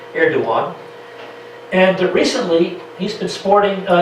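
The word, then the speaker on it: Erdoğan: The G in his name is silent. That's what that little crescent above the G means in Turkish, Erdogan.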